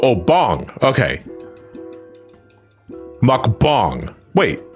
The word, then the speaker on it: mukbang: Bung like bong as in bong. So if you were to spell phonetically for me, that would be b like a O. Like an O. Oh, bong. Okay. Mukbang.